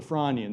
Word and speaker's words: Frasnian: stage known as the Franian. The the the S is silent.